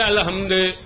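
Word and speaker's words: الحمد: இஸ்லாத்துக்கு வந்தவங்களுக்கு மனப்பாடம் பண்ணுவாங்கன்னா உச்சரிப்பு பிழை வரலாம் ஏன்னா அல்ஹம்துங்கிறது அல்ஹம்து வேற ஏதாவது ஒரு என்ன செய்வாங்க உச்சரிப்பு பிழைகள்ல கரெக்டா கம்து அப்படின்னு சொல்லுவாங்க ஹம்துங்கிற ஹே உச்சரிப்பு வராமல் போகலாம் வராமல் போகலாம் லாது வராமல் போகலாம் இந்த மாதிரி உச்சரிப்பு பிழைகள்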